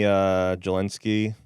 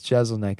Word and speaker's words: Jeselnik: Anthony Jelensky. No, it's Jeselnik is how you say Jeselnik, it.